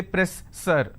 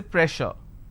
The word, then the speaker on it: pressure: word which is pressure just because I have 2s I can't say press sir I can't say press sir so here double s will become sure sound so I say pressure all right so you